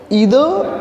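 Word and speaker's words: either: British pronunciation के according जो है इसको आप आइदर नाइदर पढ़ोगे, लेकिन अमेरिकन प्रोनाउंसिएशन के अकॉर्डिंग जो है आप इसको ईदर और नीदर भी पढ़ सकते हो।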